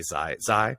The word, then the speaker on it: Tsai: How do you say Tsai, the owner of the Nets. Tsai, yeah.